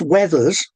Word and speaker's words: Withers: So Withers which people from that family have always insisted should be pronounced weathers that has resulted in the name crossing over two completely different groups of surnames.